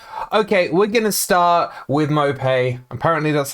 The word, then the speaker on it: Maupay: who have joined okay we're gonna start with mopay apparently that's how you pronounce it that's one new thing i've learned